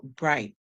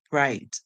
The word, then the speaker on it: bright: The I is making the song, the GH is silent. Just like in a lot of words, GH is silent.